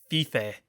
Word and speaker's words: five: then the jerks were pronouncing it fife instead of five they had some kind